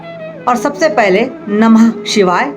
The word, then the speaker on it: शं: दोस्तों, शं बोलना है, श में शम नहीं बोलना है, मौ नहीं लगाना है, ग लगाना है। शं शनैश्चराय नमः। हम जल्दी में बोलते हैं शम शनैश्चराय नमः, लगता है शम मौ का उच्चारण आ रहा है, लेकिन मौ का उच्चारण ना आए, भले हम जल्दी में जैसे ही बोल रहे, पर ध्यान रखना है कि शं शनैश्चराय नमः ये बोलना है।